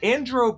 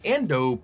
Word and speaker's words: Ando Prime: Andro Prime would be a new planet, but I wonder if Wanda Sykes mispronounced Ando Prime, just A-N-D-O, which is an ice planet that first appeared in the Episode 1 Racer game.